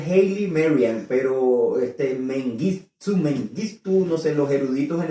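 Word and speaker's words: Haile Mariam: sé cómo de verdad yo sé que se pronuncia Haley Marian pero este los eruditos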